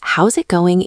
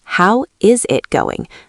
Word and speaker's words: how's it going: Yes, how's it going? Usage is almost identical to how are you, but it flows much better. Note the pronunciation. We don't say, how is it going? We smash it together.